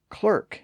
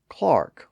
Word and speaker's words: clerk: spelled c r k is pronounced clerk in American English but Clark or Clark in standard British English the same thing happens